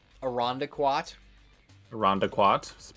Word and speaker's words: Irondequoit: my face hurts jesus christ like like a rhonda quat rhonda quad pronounced irondequoit we have a chili chili not lima a